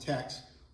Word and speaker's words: Teche: river thex or again it would be pronounced Tex or desopo so it